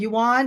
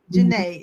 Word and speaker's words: Janae: And is that Yuan? Is that right? Did I pronounce that correctly? Janae. Janae. Oh, Janae. Oh, it's Janae.